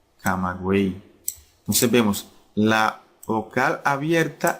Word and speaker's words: Camagüey: Porque la Y no se pronuncia como en yate o en yegua, ¿verdad? Sino que se pronuncia como I latina. Buey, camagüey.